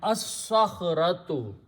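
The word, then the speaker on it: الصخرة: When swad comes after lam, swad is a shamsi letter, it kills the sound of lam but doubles up its own sound. So we put a shadda there and we remove this one.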